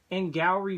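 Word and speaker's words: Angourie: engrossed surprisingly I think the biggest thing is in gallery Bryce's performance that's how you say it I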